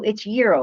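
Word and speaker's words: gyro: So it's euro. It's not gro, it's euro, right? That's the correct pronunciation.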